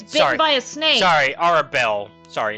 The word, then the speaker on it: Arabelle: Sorry, Arabelle. Sorry, it's Arabelle in this. I'm like, Arabella's that kid that got bit by a snake. It's Arabelle.